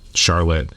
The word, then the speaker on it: Charlotte: an office in um Charlotte everybody locally pronounces it Charlotte but it's spelled Charlotte so Charlotte uh Vermont